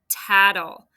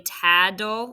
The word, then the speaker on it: tattle: Tattle. I know we sometimes say taddle, like it sounds like a d. It's not. It's tattle.